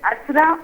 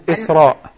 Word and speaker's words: Isra: Is it Asra or Isra? It is Isra.